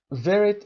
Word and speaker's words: varied: Doing varied work varied تلفظش رو دقت داشته باشید، وری نخونیم این رو. Very دقیقاً مثل very تلفظ میشه.